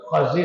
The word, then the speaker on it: خضر: اردو میں خضر پڑھ دیتے ہیں، ایکچوئل لفظ خضر ہے.